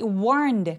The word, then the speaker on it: warned: 자, 이 warned 같은 경우에는 warn, N 소리가 성대가 울리는 소리라서 ED는 통째로 그냥 드로 발음합니다.